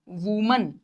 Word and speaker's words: women: और इसका प्रोनाउंसिएशन होता है विमेन, विमेन।